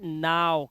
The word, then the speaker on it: now: लेकिन यहां पर इसे नो नहीं पढ़ते, इसे नो यस नो नहीं पढ़ते, इसे पता है क्या पढ़ते हैं, इसे पढ़ते हैं नाव। क्या पढ़ते हैं, नाव, इसे नाव पढ़ते हैं, ध्यान से देखना।